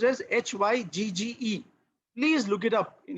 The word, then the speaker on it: Hygge: It is pronounced as Hygge.